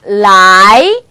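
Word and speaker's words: 来: 라이, 라이입니다. 자, 그래서 여러분 중국 영화에서 혹시 이런 발음 들어보신 적 없으세요?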